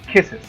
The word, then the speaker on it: kisses: Ya no es kiss, sino kisses. Como si fuera muy parecido a es en español.